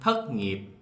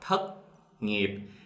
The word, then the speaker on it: thất nghiệp: In the South, we pronounce the thất ending T sounds like a C. So the Southern, thất nghiệp.